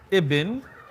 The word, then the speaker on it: Ibn: So the thing is, in Arabic, it's Ibn, but when you write it together, you drop the alif, right? So you write it Uthman bin Farooq, but you still have the pronunciation of Ibn. So Ahmad ibn Hanbal, right? So like that, Uthman ibn Farooq. People think because in the writing you drop the alif, that you drop the sound, but you don't.